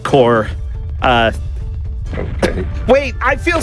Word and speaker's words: Corps: multiple sub organizations uh U.S corpse it's pronounced core uh okay wait I